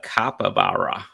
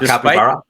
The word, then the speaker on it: capybara: was accompanied by a capabara hope I'm pronouncing that right wait a minute was it a capybara yeah you know what